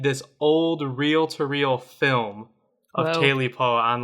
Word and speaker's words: Tailypo: bones sometimes ta paw but the common uh pronunciation is TA po bones and PAW sound like a good start